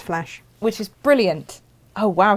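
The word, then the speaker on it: Flach: here we go so it's spelled with a c f l a c h it's still pronounced flash which is brilliant oh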